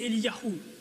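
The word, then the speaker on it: אליהו: nom se prononce ainsi pour Ilie c'est Eli Yahou pour Jérémie c'est yeremyahou et et donc le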